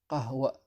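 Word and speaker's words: قهوة: On l'utilise pour le mot qahwa, que beaucoup de gens ont du mal à prononcer. On dit qahwa.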